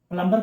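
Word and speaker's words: plumber: एम के बाद अगर कोई वर्ड आता एम के बाद अगर बी आता है तो वो साइलेंट हो जाता है। जैसे प्लमबर प्लंबर पढ़ते है ना?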